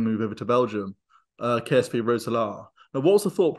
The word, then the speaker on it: Roeselare: course, that loan move over to Belgium, KSV Roeselare. Now, what was the thought process behind? Did I pronounce that okay?